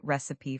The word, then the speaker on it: recipe: You say, "I found a great recipe for chocolate cake." You're stressing the first syllable.